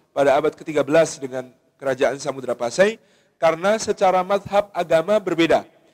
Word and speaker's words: Samudra Pasai: apa yang disebut sebagai sumotrah Pasai oleh Ibnu Batutah atau Samudra Pasai dalam pelafalan kita kata Sumatera dalam pelafalan kita hari ini merujuk kepada penyebutan dari Ibnu Batutah di dalam kitab arrihlahnya ketika menyebut Samudra Pasai sebagai sumatrah basai sumodra Pasai ini sebuah